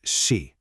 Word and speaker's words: 事: It's pronounced she.